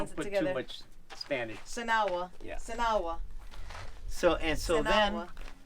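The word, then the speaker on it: Sinagua: So Sinawa. That's how you say it. That's Well, actually, it comes Without out more like water. Sanawa.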